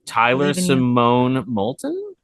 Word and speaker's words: Tyler-Simone Molton: Tyler-Simone Molton, That is perfect pronunciation.